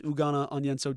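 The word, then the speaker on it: Ugonna Onyenso: a chore chore and yugan on yenso or ugan on yenso I might have seen the pronunciation might have been butchering that so I think it's ugana on yenso technically that's on me if I've been messing that up but as it sits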